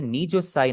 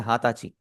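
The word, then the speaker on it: 二十歳: हाथाची देश। हाताची देश का मतलब हो जाएगा मैं 20 साल का हूं। हाची का मतलब होता है 20 इयर्स ओल्ड। आपने नीचुसाई नहीं बोलना आपने बोलना है हाथाची।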